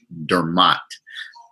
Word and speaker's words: Dermot: correct him and say no it's Dermott and I make them